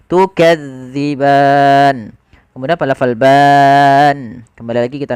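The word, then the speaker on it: تُكَذِّبَانِ: gigi Sari atas d Jangan dibaca dengan zza Maka jangan baca tukaziban tapi kita bacanya tukadziban kemudianfal ban kembali lagi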